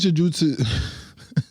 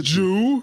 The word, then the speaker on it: jiu-jitsu: Jiu-jitsu. And I'm twice his size, probably twice his strength, and he fucked me up for 2 hours. What does jiu-jitsu?